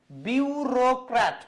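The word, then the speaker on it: bureaucrat: বিউরোক্র্যাট উচ্চারণটা করবেন বিউ, এই যে র আর এই যে ক্রাট, 3টা সিলেবল। এইটাকেও আবার অনেকে ভাঙতে পারেন বিউ রিয়া ইউ ক্র্যাট।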